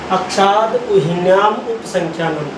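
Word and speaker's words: अक्षादूहिन्यामुपसंख्यानम्: अक्षाद उ्याम उपसंख्यान अक्षाद उहिन्याम उपसंख्यानम अक्षाद उहिन्याम उपसंख्यानम इसको बोलेंगे उच्चारण कैसे करेंगे इसका अक्षाद उहिन्याम उपसंख्यान तीन भागों में बांट के इसको बोल सकते हैं अक्षाद उहिन्याम उपसंख्यानम अब देखिए हम इसकी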